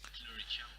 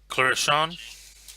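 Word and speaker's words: Clurichaun: It's like Clurichan. Clarishan, Clurichan. yeah. Think leprechaun.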